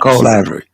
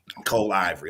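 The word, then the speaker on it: Colivory: o r y LLC I don't want to butcher the name there you know Cole Ivory Cole Ivory okay but I just want to just kind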